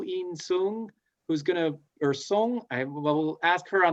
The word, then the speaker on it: Sung: in song so last name song sounds like s-o-n-g but it's spelled as u-n-g because i'm from taiwan it's a different spelling system is actually a name